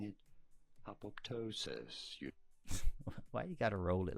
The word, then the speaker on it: apoptosis: How do you go about pronouncing it? Apoptosis. Why you gotta roll it like that? Apoptosis.